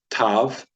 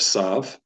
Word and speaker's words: Tav: in the Sephardic and so we're going to call this Tav instead of Sav and it'll be tab it'll be pronounced t with or without the degash without the dot all right except pretty